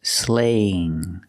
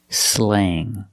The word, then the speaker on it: slang: It's slaying. A. Slang.